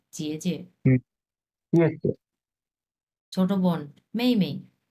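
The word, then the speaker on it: 姐姐: এটা হাফ থার্টন উচ্চারণ হবে, জেজে।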